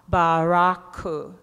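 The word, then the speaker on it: ブラック: Okay, now this is how you say black coffee. Remember Barack Obama, Baraku, black coffee.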